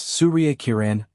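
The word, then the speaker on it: Surya Kiran: It's Surria Kiran. Ma'am, she said, placing the emphasis on the correct syllables, making the words flow like they were meant to.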